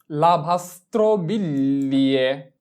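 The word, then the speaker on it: lavastoviglie: যদি আমাদের শব্দের মধ্যে জি এল ই পাশাপাশি থাকে তাহলে আমরা জি কে এল ধরে উচ্চারণ করব, কিন্তু এল এর সাউন্ডটা হবে অর্ধেক বা হালকা।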